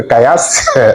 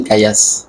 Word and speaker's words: Kaya: Donc, on dira tout simplement que, comme le dit le maître Kayas, un maître que j'admire beaucoup dans le maître Kaya, mais Kayas.